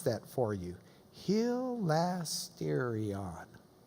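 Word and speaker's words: ἱλαστήριον: here it is there's the propitiation let me pronounce that for you hilastérion its mercy seat Jesus is the mercy seat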